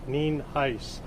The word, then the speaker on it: Nienhuis: I'm Hernando County Sheriff Al Nienhuis. It is spelled Nienhuis and it's pronounced Nienhuis.